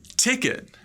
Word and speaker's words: ticket: has the same pronunciation second syllable sounds like it like IT ticket but we're going to